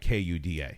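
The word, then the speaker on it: куда: Well, in Russian, it looks nothing like Kuda. Sure. I don't know, So they will write a transliteration Kuda for an English, so that's pronounced kuda. But the IPA is something completely... It's like KOO.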